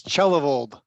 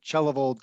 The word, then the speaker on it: Chellavold: pronounce it properly yeah it's it's chellavold just like church and chellavold kind of how it looks so uh yeah no secret letters in there at all yellow so yeah